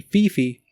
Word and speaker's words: Phi Phi: So they say PP, but it's actually Phi Phi. Because if you think about it, Phi Phi is very similar to Kiki.